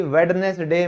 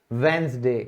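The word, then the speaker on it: Wednesday: तो बुधवार को कभी भी वेडनेसडे मत बोलना भाई, डी हमारा साइलेंट होगा, ये कहलाएगा वेंसडे।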